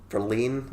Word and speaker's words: Verlaine: Tom Verlaine, what you say, is how you say his surname, is quite.